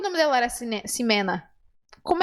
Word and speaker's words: Ximena: você não sabia que o nome dela era simena como é que você não sabia se você